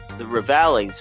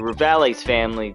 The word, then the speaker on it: Rivales: We Kitakis are having what you might call a feud with the Rivales family. I don't know if I just should say rivals, but I feel like the E needs to be pronounced.